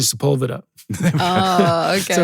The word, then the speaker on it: Sepulveda: that Lee and I called Sepulveda because it's spelled like that, but it's actually Sepulveda.